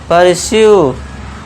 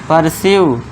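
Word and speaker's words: pursue: जब लास्ट में UE आए तो UE का उच्चारण फिर से आपको यू बड़े की मात्रा करनी है, यू, ठीक है दोस्तों। अब लास्ट में UE आ गया तो इसे पढ़ेंगे परस्यू, परस्यू, UE फिर से,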